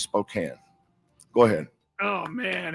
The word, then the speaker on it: Spokane: It's and it's not Spokane and it's not Gonzaga. It's Gonzaga and it's Spokane.